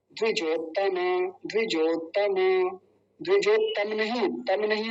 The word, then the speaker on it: द्विजोत्तम: यदि पहले वाला त ले लें, आधा जो त है, और अगला जो है वो तम नहीं है, ये यहाँ गलती हो जाती है बोलते समय, तो बड़ा ध्यान यहाँ भी देना है।